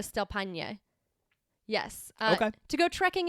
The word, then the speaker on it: Paine: Paine.